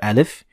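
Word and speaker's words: آل: So you're going to pronounce alif, but a little bit longer than usual. So al, al.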